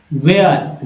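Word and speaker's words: where: We need to आस्क वेयर, वेयर है ना, वेयर। एच जो है यहाँ साइलेंट है, लोग नहीं समझते हैं, आज समझ लीजिए।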